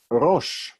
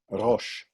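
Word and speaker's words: ראש: Here is a word that you know probably from the name of a holiday, Rosh.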